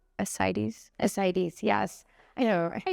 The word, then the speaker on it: Ascites: Ascites, yes.